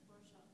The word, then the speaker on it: Rorschach: I always think I mispronounce that, but that's Rorschach block.